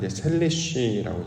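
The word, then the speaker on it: שלישי: 셋째, 히브리어 발음으로는 셀리쉬라고 발음을 하는데, 앞에 있는 단어와 뒤에 있는 단어가 똑같습니다.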